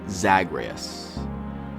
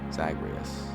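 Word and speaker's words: Zagreus: action Road likee game where the players control zagreas zagreas I think that's how you say his name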